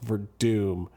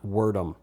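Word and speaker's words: Werdum: And yes, it's pronounced Verdoom, not Worerom. I've heard people on the radio and like non MMA people calling him Wordom all week.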